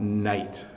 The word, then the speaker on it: night: out at night so again the GH is not really pronounced with the i